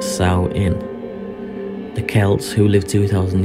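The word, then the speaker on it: Samhain: the ancient Celtic festival of salmon pronounced Sal in the Celts who lived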